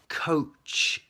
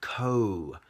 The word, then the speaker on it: coach: So coach is the O sound, coach, but the ending is the same, coach and couch, and you have to put your tongue, couch.